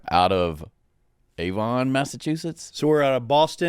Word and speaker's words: Avon: I said it slowly because I want to make sure I was pronouncing the town is Avon, Massachusetts.